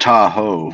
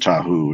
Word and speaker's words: Tahoe: yeah but that's pronounced Tahoe not tahu it's Tahoe no I know but like